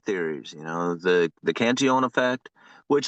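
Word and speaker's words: Cantillon: you know the the canion effect which a lot of people say canon canilian right because it has a couple L's in there but it's it's in French name so it's canion Um, but it's it's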